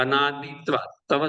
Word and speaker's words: अनादित्वात्: अक्षर कौन कौन है, देखिए अनादित्वा तवा संयुक्त है वहां, तो उसके पहले वाले अक्षर पर बल लगाइए। अनादित्वा, भले दीर्घई हो जाए उच्चारण में, लेकिन बल लगाना है, लगेगा कि दीर्घई पढ़ रहा है।